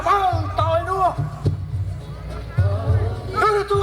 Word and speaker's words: Rurutu: Appelé Rurutu, en fait il se prononce Rurutu.